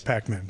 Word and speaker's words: Packman: team oh yeah people sounds like we call pac-man yeah it's pac-man just so i pronounce